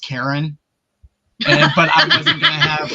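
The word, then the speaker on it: Charon: I did a bunch of research on him, and I was like, I would love to play as Karan, and it's actually pronounced Karen, but I wasn't gonna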